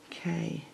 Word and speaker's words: khaki: K-H-A-K-I. I know some people have problems pronouncing some of these words, but khaki. That's how it's pronounced.